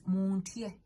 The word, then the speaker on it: muntye: And last but not the least is montie. Montie. It means you get scared of me. Montie, like get scared of me. So it's MUNTYE. Montie. Montie is 1 syllable.